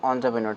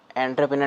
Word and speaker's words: entrepreneur: ठीक है, इसको बोलते हैं entrepreneur. ठीक है, entrepreneur. ठीक है, एंटरप्रेन्योर नहीं बोलते हैं इसको, entrepreneur. ठीक है, ये बोलते हैं.